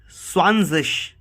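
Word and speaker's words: zwanzig: So we pronounce it Swanzish. Not zig, is zish.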